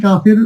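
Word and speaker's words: كاف: কাকা বলে যে এই কাফের উচ্চারণটা কিন্তু সহজে আমাদের হয়ে যায়। তো প্রিয় শিক্ষার্থীগণ, চলুন আমরা একটু কাফের মাকড়াসটা দেখি। যে জিহ্বার গোড়া থেকে একটু সামনে উপরে তালুর সাথে লাগিয়ে বলতে হবে কি?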